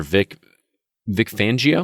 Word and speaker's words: Vic Fangio: I'm sure that the Denver Broncos will be starving for their first win of the season under Vic Fangio. Am I pronouncing that correctly?